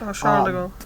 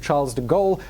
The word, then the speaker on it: Charles de Gaulle: I'm going to go with the accepted English pronunciation of Charles de Gaulle because it's easier for me. I'm less likely to screw it up.